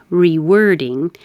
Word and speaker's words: rewording: Rewording. I am busy rewording my acceptance speech. Rewording. It looks like OR. Sounds like ER.